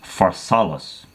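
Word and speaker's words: Pharsalus: battle at a place called in his effect pronounces far solace in northern Greece all right he crushes Pompey's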